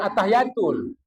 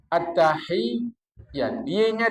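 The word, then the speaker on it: التحيات: Bukan at-tahiyatul. At-tahiyat. Y-nya 2.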